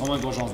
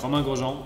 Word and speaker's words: Romain Grosjean: So Romain Grosjean is the perfect pronunciation.